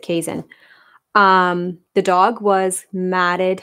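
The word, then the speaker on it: Keeshond: it was a kaizen a lot of people call them quiche hounds but you pronounce it kaizen um the dog was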